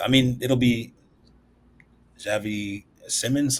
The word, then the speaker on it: Simons: Um, so yeah, I mean it'll be Javi Simmons. Simons, how how do you say his last name? Yeah, Simone. Simone.